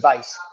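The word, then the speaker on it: Constantin Weisz: they'll do Constantine Weiss which I think it's spelled I mean it's it's with a W but it sound like they saying V con Vice uh hold up yes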